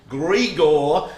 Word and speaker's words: Gregor: from glamour panorama himself my name is griegor apparently who rhymes with igor from four pillars i